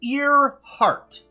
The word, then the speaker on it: Earhart: it's not to be the Clark oh it's ear heart that's interesting and the salsa Amelia starting with